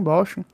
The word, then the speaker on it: Bochum: aí né acho que é assim que se pronuncia bochum bochum e ele meteu hoje 5 a 0 meu